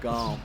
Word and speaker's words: gaum: It's so the way they say it and the way they spell it is GAUM, but now a lot of people people still use gum, but they say it like gum, GUM. Like, oh, that's gummed up.